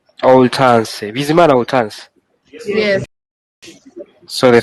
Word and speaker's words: Hortense: The pronunciation is Hortense. Oltanse.